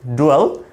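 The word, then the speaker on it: dwell: নাম দেব সেখানে তাহলে ডুয়েল মানে হচ্ছে আমাদের বসবাস করা আমরা এটাকে ডুয়েল উচ্চারণ করতে পারি ডুয়েল নট ডিয়েল এরকম না এটা আমরা বলব ডুয়েল ডুয়েল অথবা আমরা বলতে পারি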